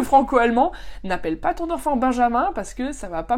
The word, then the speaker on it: Benjamin: Alors Benjamin, c'est un prénom, encore une fois, très sympa en français. On a l'équivalent en allemand, mais c'est Benjamin. Donc là, vraiment un prénom qui se prononce complètement différemment en français qu'en allemand. Et autant là, pour les oreilles françaises, Benjamin, ça sonne horrible. Et autant pour les oreilles allemandes, Benjamin, c'est horrible.